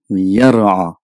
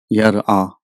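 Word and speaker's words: يَرَى: You know, Fa'ala, Yaf'alu, Yar'a. But as the time went, because of the pronunciations, the Yar'a became Yara. So again here the Hamzatul Qata got dropped, so it becomes Yara.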